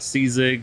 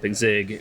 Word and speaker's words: Czig: Yeah, I mean, like I said, as long as it's not C-Zig, then C-Zig. C-Zig? Zig. Yeah, the C is silent.